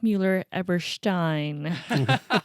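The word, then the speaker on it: Mueller-Eberstein: record if lauren's is listening it is mueller-everstein oh man that's one of the best pronunciations i've heard for a long time eric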